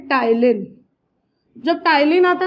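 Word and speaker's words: ptyalin: इसका और एक भयानक सा नाम है टाइलिन, जब टाइलिन आता है ना सब लोग कंफ्यूज हो जाते हैं, ठीक है, टाइलिन पी साइलेंट है, और ये कौन से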